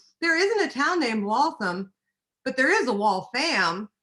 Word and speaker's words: Waltham: And it's real important that you know, if you ever go to Waltham, that it is pronounced Waltham and not Waltham, because they will tell you right away, because